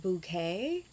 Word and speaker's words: Bucket: she plays hyacinth bouquet she pronounces it bouquet but it's spelled bucket be cked and she's one of